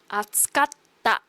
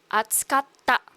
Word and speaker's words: 暑かった: This tsu is a small tsu, which I have mentioned before. It means that the next syllable is going to be a double consonant. So it's kind of pronounced in a harder way. Atsukatta. Okay, so there's kind of like an emphasis in the ta.